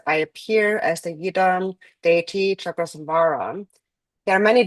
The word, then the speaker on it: yidam: And so here it says, I appear as the Yidam deity Chakrasambhara. There are many different Yidam deities. And so yidam, the term itself, so yi and dam, so two syllables.